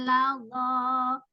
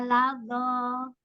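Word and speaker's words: لظى: Karena memang dho itu makhorijul hurufnya sama kayak sa dengan zal. Cuman dia bedanya pangkal lidahnya diangkat ya.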